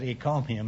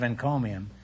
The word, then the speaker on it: encomium: there you now have $340 you know I mispronounced it a few weeks ago in the show for some Curious reason I said eccomum instead of encomium and I got a ton of mail all